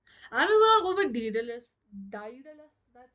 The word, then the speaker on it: Daedalus: Wait, it's Daedalus. Wait, Indian English pronunciation?